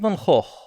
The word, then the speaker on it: Van Gogh: Vincent van Gogh. Yes, that's how you pronounce it. Van Gogh. It's a Flemish name, in the sense that you have to use a lot of phlegm.